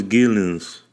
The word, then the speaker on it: Geelens: His name is Geelens. I'm saying that right? Yeah, you're saying it right. Yeah, Geelens. What's up, everyone? Glad to be here. My name is Geelens.